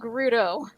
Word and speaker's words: Gerudo: Game literally tells you it's called Gerudo.